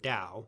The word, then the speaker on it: Tao: the way jail system the tea is pronounced as a D okay so you need spell the word Dow so Dow is a